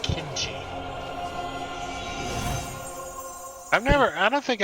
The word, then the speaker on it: kimchi: going to focus my kinchie your chi your key chia head it's pronounced kimchi i've never i don't